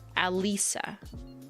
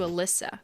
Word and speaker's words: Alyssa: Pronounced like Mona Lisa without the moan. Mona Lisa. Alisa. Alisa? As opposed to Alyssa. Got it. Alisa. Like a Lisa.